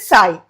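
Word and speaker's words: psi: This symbol that you see is the Greek symbol pronounced it sigh.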